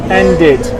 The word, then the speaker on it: ended: Now when we want to put it in the past tense, we need to add ed, so it becomes then did. So this is how you say it, and this is of course how you write it, okay? Ended. So it has two syllables right now, two sounds, and we say ended.